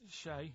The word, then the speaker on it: Che: Che is like shake, and his surname is like guitar.